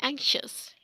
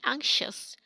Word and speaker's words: anxious: Okay, the most commonly wrong pronounced word, anxiety and anxious. Anxiety mean parishani, and its pronunciation will be anxiety. And anxious, this is not anxious as the most people say, this is anxious.